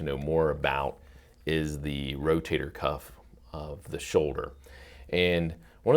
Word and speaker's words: rotator cuff: they know the name sometimes they mispronounce it a little bit and call it rotary cup or something like that but they've all heard of the rotator cuff but they're not exactly